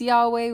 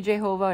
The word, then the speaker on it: Yahweh: We don't even know the pronunciation of it. We think it's Yahweh. We think it might be Jehovah.